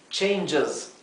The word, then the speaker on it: changes: ch changes sí changes fíjense que la esta letra i casi no se pronuncia es casi como si no hubiera como si pasáramos del sonido J al Z de la s y la s final